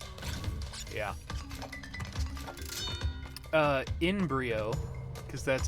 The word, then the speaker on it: Brio: horotec so I'd be suicidal - yeah in Brio because that's how you say his name because he is dr. nitrous Brio he becomes a good guy in the second